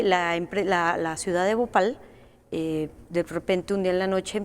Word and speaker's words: Bhopal: en la India y se llama el caso Bhopal. Se lo pueden buscar en YouTube, hay varios documentales, se escribe B de burro, pues, o B, o P-H-A-L, Bhopal.